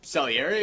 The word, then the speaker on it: Salieri: Murray Abraham as Salieri, is that how you pronounced it?